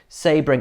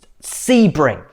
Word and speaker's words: Sebring: sabring i never say it right do i sebring why can't i pronounce american circuit names properly sebring 12.